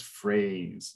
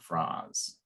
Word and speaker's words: phrase: said fras or something so remember there's a silent e at the end of it okay so it's not crazy but the silent episode phrase but the silent E indicates that it's the open a so it's phrase not fras okay so what do